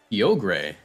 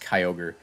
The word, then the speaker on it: Kyogre: always get your kyogre yo gray i remember that from the hoenn anime and then they mispronounced kyogre yogray he has opted to